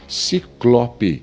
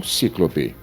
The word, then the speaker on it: ciclope: Ciclope e não cíclope.